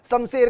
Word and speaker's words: शमशेर: मैंने बहुतों को सुना है, शमशेर, मेरा नाम शमशेर है, अबे तेरा नाम शमशेर है भाई, शमशेर कैसे होता है शमशेर, श है वो, स नहीं है वो।